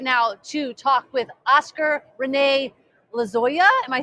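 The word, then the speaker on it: Oscar René Lozoya: But we are here at this right now to talk with Oscar Rene Lozoya.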